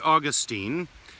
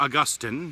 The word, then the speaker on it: Augustine: i want to share a story from saint augustine or augustine depending on how you uh pronounce it and um he certainly was a